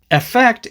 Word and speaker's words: effect: However, in most dialects of British English, the E is usually pronounced as the short I sound, which is the sound that we have in words like in, win, him, and sit.